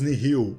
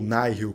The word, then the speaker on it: Nihil: Os Jedi estão enfrentando os Nihil, ou Nihil, como você quiser pronunciar, que ficam ali na orla